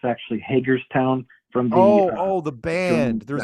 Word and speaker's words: Hagerstown: But anywhere else you go, people will say, "Where do you live, Hagerston?" They always pronounce it Hagerston.